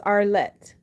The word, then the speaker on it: Arlett: hey Danielle oh she you said you can't pronounce my name my name is Arlette Arlette thank you for asking um so I